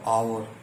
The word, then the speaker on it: hour: और दोस्तों इसमें जो एच है वो साइलेंट हो गया, तो एच को हमने नहीं बोला है, एच साइलेंट है, तो हमने इतना ही बोला आवर।